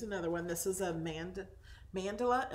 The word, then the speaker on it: mandala: This is a mandala. Am I saying it right? Mandela? Mandala. Okay.